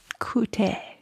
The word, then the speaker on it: Qt: and dig and um in in Finland at least they call it c um because that's the the way the Finnish pronounce the letters so there's a a third option out there coute I like that you